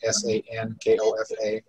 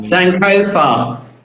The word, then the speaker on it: Sankofa: So the ko is an o, so it's written with an open o, so it's an o sound instead of ko.